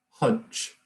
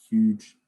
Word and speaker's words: huge: It's not stage, it's not hudge. It's huge stage, okay?